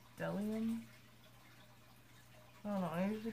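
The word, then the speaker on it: Bdellium: I don't think you actually pronounce the B. Like, it's spelled Bedelium, but it's Delium.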